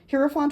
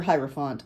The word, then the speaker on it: Hierophant: Hierophant or Hierophant. I've heard it pronounced both ways.